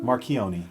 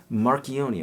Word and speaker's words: Marchioni: Yes, this beautiful, how do you pronounce it? Marchioni. Marchioni, of course. It's Okay. Italian last name.